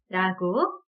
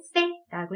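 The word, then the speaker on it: ce: 소리를 일단 내주시고 그리고 스페인 현지에서는 사실 th, 번데기 발음으로 내주셔야 돼요. 즉 스페인 현지에서는 이 C라는 알파벳을 읽을 때 세라고 네, 발음을 하게 된다라는 거죠. 한번 해주실까요? 세. 네, 그렇게 중남미에서는 그냥 편하게 세라고 해주시면 되시고요. 그 다음 알파벳은 대.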